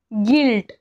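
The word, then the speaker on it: guilt: गाईड म्हणजे काय मार्गदर्शक गिल्ट इथे सुद्धा यु च्या नंतर आय आलेला आहे गिल्ट म्हणजे अपराधीपणा किंवा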